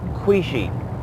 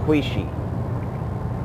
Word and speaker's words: Quchee: So yeah, the name of this being is, okay, it's pronounced Kwee-Shee, but it starts with a Q. It was mentioned to me in my language, the English language is a Q, so it's pronounced Kwee-Shee.